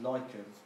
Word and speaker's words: lichens: up is light goes spotlight litchi but it's pronounced lichens and they're they're like mossy growth you see